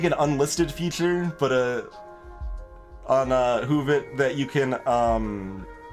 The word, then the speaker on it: Woovit: Oh, I don't know if anyone linked it in chat or anything, Keppa, but it's WOOVIT is how, yeah, it's spelled weird, but that's Hoovit.